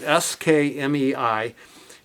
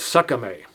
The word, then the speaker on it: SKMEI: It's the the brand name is s k m e i and some expert on the internet said that the way to pronounce that in Chinese is Sakame.